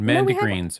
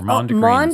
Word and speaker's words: Mondegreens: No, no, we Mandagreens or Mondegreens. Mondegreens, that's right. Oh, can't pronounce that.